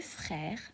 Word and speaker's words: frères: J'ai deux frères et une sœur. So j'ai I have deux frères. Deux is number two, okay? In French, we do not pronounce the s at the end of the word, so you don't say